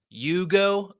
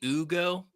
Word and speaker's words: Hugo: Hugo. I'm going to go with Hugo. Could be Ugo. It's Hugo without the H, so I'm thinking Hugo.